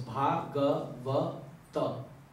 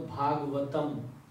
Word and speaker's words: Bhagavat: Bhagavata. In English, many people call Bhagavatam, but that's just a pronunciation. The exact is Bhagavat. Just like Radha and Radhe.